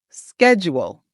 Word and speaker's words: schedule: schedule. Perfect. How about this word? This word has four syllables and we're going to put the stress on the second syllable.